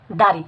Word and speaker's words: দাঁড়ি: চন্দ্রবিন্দু থাকার কারণ হচ্ছে এই দা শব্দটি নাকের ভিতর থেকে উচ্চারিত হবে এবং এই দাড়ি শব্দটির উচ্চ হচ্ছে এটা বাংলা শব্দ, এটা একটি বাংলা শব্দ।